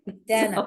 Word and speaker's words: Dana: you thank you I appreciate that and I pronounce my name Dana by the way Dana okay I apologize because I've known a couple